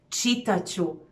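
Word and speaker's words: čitat ću: you would write however if you want to pronounce it then you even lose the t in the pronunciation so you would just say chitacho or i will write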